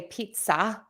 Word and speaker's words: pizza: Connected speech Pizza okay I say pizza more with a z many people say pizza which is an S so pizza or pizza pizza or pizza either is fine there's definitely um variations